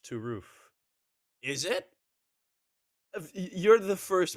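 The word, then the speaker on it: Turów: well to zero who's whose name is turo is pronounced to roof is it you're the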